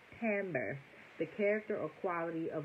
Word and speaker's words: timbre: him he smelled wonderful what Timbre real quick because I know I've been doing the most tamber I ain't even saying it right according to Google tamber the character or quality